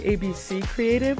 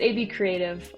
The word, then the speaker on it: ABCreative: I keep wanting to say ABC Creative, which how do you typically pronounce it? Is it AB Creative or ABC Creative? Um, it's AB Creative.